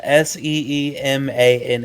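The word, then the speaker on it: Seemann: something all right so track number five Seaman okay yeah uh which means it's literally spelled s e m a n n which it's seman in German means sailor mhm it does in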